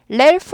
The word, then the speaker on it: Ralph: Ralph 아니에요. Ralph 아니고 Ralph는 이거죠. L 아니고 R 발음이에요.